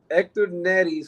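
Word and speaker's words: Héctor Neris: And Hector Neris, which is the correct way to pronounce his name, regardless of how everybody pronounces it.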